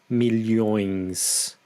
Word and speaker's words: milhões: Also here, in terms of pronunciation, you need to be careful when you pronounce the plural of milhão, which is milhões, oins.